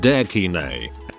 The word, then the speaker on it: EKNY: Finally, I know of a kid called EKNY, pronounced Dekine.